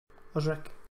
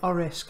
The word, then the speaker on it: Orisk: Osric. Sorry, Orisk. I keep calling you. You're mispronouncing your name.